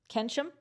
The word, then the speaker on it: Keynsham: So if you're not that far away from checks notes, Holcomb and Keynsham. This is Kensham.